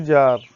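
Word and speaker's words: czar: वैसे ही सी जार, तो सी यहाँ पे उच्चारण नहीं करेंगे, सिर्फ जार करेंगे, और ये जैरीना।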